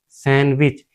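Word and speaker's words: sandwich: यह हमारा होता है सैंडविच। यहां हमारा डी साइलेंट होता है ये वाला डी। ठीक है? यह हमारा डी साइलेंट होता है। इसे हम सैंडविच बोलते हैं।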